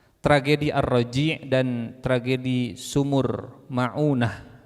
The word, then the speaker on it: Ma'unah: arraji dan tragedi sumur maunah dibacanya maunah ya bukan maonah maunah Punten yang namanya sama apalagi maoneh maunah mim Ain ww Nun tak marbutoh maunah dan arraji tragedi arraji